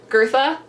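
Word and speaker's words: Goethe: by uh girtha um I think I'm pronouncing that right I did look up how to pronounce that and it it really has like an R but kind of not sound in it um which is a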